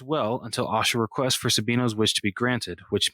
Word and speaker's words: Sabino: Oh yeah, Sabino.